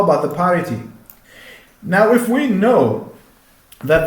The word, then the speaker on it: parity: is the parity method this is not party it's parity okay because usually uh